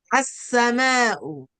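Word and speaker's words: السماء: We skip the lamu ta'rif. We do not pronounce it. Meanwhile, we We give the give sim the sim shadda, shedda. shadda. All right? Because it is a sun letter coming after lamu ta'rif.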